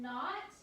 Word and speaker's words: knot: a word, as in knot, knit, and knife. And if it's spelled with a KN, as in knot, knit, and knife, that K doesn't make a sound. It's a silent K, okay?